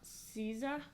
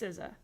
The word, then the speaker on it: SZA: I'm looking it up. Sorry. SZA. It's pronounced SZA.